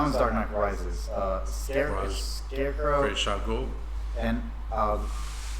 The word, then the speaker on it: Ra's al Ghul: Ra's al Ghul. And say his name one more time. Ra's al Ghul. Ra's al Ghul. A lot of times it's pronounced Raj al Ghul, but it's Ra's Al Ghul.